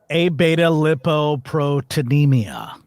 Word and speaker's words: Abetalipoproteinemia: Abetalipoproteinemia.